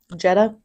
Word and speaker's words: Jeddah: Jeddah. Like Volkswagen? DDAH. But pronounced like the Volkswagen Jetta.